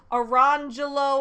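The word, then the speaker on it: Orangejello: and lemon jello which their silly parents pronounced around Jello and lamangelo they give this as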